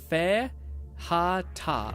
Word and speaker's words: fajita: Lord says Fajita is pronounced Fe-ha-ta.